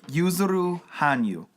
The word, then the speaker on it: Yuzuru Hanyu: men yeah for men I'm gonna try and do my best to pronounce this guy's name I believe it is yuzuru Hanyu that sounds beautiful hoping that's how I pronounce it if I did